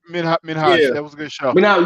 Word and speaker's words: Minhaj: Simon Minaj, I can't pronounce. That was Minhaj. Yeah.